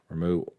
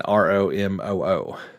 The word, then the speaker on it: Ramuh: Apparently, and this is according to Twitter, so it must be true, Ramuh, Ramu, is apparently it's supposed to be pronounced Ramu, as in Romoo.